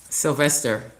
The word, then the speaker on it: Sylvestre: It is Stephanie Sylvest. How do you say Sylvester or do you say Sylvester? Sylvester.